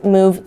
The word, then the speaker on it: move: on the word move it's a very special case because it's spelled similarly to love l o v e but it's a different sound it makes a oo sound like a cow moo okay so we have